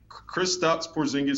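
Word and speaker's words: Kristaps Porziņģis: gonna do my best I believe it's crew stops porzingis he's kristaps porzingis seven foot three latvian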